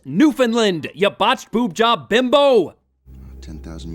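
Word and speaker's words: Newfoundland: locations Venezuela New Foundland New Foundland did she seriously just pronounce it New Foundland it's pronounced Newland you botched boobjob bimbo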